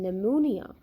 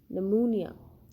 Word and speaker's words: pneumonia: pronounced it is silent in pneumonia p is not pronounced it is silent pneumonia we do not pronounce